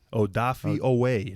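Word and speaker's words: Odafe Oweh: like scotty it's odd i did see that odafi away no more jason it's odafi away double o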